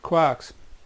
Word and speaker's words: quark: Now the pronunciation of that, I say quarks. The guy who originally coined the word was tossing up between quarks and quirks, or quarks. A lot of people, a lot of physicists will call it quark, to rhyme with talk, and others will call it quark, because the original poem that it came from was talking about a person called Mark, Mr. Mark, M-A-R-K.